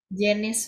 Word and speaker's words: Janis: Apa bacanya nama kamu tuh harusnya? Janis, Pak. Janis. Janis, pakai J. J, J, J, Janis.